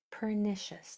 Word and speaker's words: pernicious: The C does make an S sound if the next letter is an E, I, or Y. Um, but that's an S sound. We're talking about an SH sound.